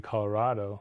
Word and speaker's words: Colorado: the new ones right newcomers are more likely to Hue closer to the Spanish pronunciation Colorado you don't have a cat oh right so it should be Colorado like avocado like tostada right Santa Paul says that's